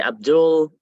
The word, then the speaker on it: Abdul Rahman: the full name is Abdul Rahman uh if I say it in Arabic it's kind of strong we say abdulrahman uh since it's hard